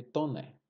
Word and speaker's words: Taunay: Se escreve Taunay, mas se pronuncia Visconde de Tonnerre.